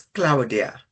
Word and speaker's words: Claudia: where we met um your pronunciation of your name is Claudiah. It's perfect. It's perfect actually. Claudia from Cloudy. Yeah. Normally it's it helps. So Claudia Claudia is going to speak